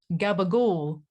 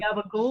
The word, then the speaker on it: gabagool: Gabagool. Oh shit. Gabagool. Hold on, let's hold on. We're gonna figure this out. I'm pulling up Subway's menu. Yeah. Mozzarella. So whatever kind of meats, including the gabagool, was on a Italian urban cheese bread with